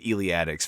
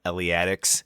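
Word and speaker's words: Eleatics: in an Italian school, philosophical school, as the iliatics from Elia. Um well, not I guess entirely wrong. I believe the more common pronunciation is Elia Eliatics.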